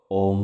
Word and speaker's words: ওম: ওম শব্দটিকে আপনারা তিনটি ভাগে ভেঙ্গে নিন। ও অ আর ম। ও অ আর ম। ও এর উচ্চারণ নাভি থেকে। অ এর উচ্চারণ গলা থেকে। ম এর উচ্চারণ মাথা থেকে। ও এর উচ্চারণ নাভি থেকে মানে ও।